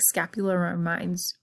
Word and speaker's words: scapula: I think scapula rhymes with spatula, and it is kind of like a fan-shaped bone.